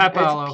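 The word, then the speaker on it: pápalo: What the sign I Popallo. saw. Heat loving cilantro alternative. Yeah, it's spelled correct. Yeah. Oh no, it's Papalo.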